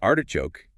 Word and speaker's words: artichoke: And artichoke is similar. Stress on the first syllable.